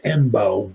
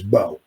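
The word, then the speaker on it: Mbow: It's looks like it's Mbo but Marcus Bo. I guess the M is silent.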